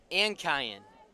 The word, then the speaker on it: Ankayan: I gotta work on the syllables, I guess. Nah. Ankayan. That's how you say it. I'm going Ankayan. Somehow a little pause makes a huge difference.